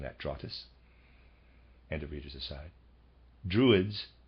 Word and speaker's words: Drottes: spelled d ro t te s i am pronouncing that draw 'this and a reader's aside druids equals oak for this reason the Germanic peoples were said to receive their instructions beneath oak trees draw tiss or druids were ancient dramatic initiates they still